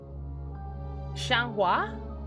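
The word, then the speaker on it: Xianghua: iv sophitia cassandra and shanwa that's how you say her name the one handed sword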